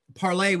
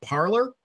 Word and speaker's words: Parler: particular a site called Parler would be the French version, but somehow I think that they're probably not going to pronounce it in the French version. It means to speak, right? They're probably not using the French pronunciation.